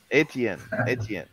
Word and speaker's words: Etienne: Etienne. So Etienne has been talking to Christo. You know Christo, Paul, right? Christo, he's the guy that's been pushing, you know, standardly. By the way, Etienne, like, so I just saw him and I remember.